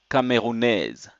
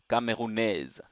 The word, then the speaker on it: Camerounaise: So the pronunciation also changes to Camerounaise. Camerounaise.